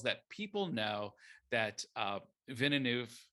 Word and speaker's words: Villeneuve: people know that uh vinoof did i pronounce that right close enough yeah villeneuve villeneuve you know got what's